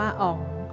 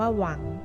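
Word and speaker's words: 王: เข้า ใจ คลาด เคลื่อน จาก คำ ว่า อ๋อง ที่ เรา ได้ ยิน ใน หนังสือ จีน ซึ่ง ใน ภาษา จีน กลาง ที่ ถูก ต้อง นั้น ออก เสียง ว่า หวัง ซึ่ง มี ความ หมาย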